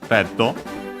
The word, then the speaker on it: レッド: And then, of course, we have Reddo. Red from English. Only differences are the doubling of the consonant and the additional O, because the D can stay on its own.